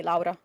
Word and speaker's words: Laura: say it right because in Italian you would say Laura that's the proper like uh the the Italian way of saying it okay and I was